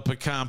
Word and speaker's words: pecan: Hey, just because you spell it like that don't mean you say it like that, bro.